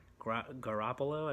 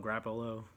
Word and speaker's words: Garoppolo: Really surprising what Garoppolo, I've never been able to really say his name that easily, but Garoppolo, I guess that's how you say it. Sometimes they call him Grappolo.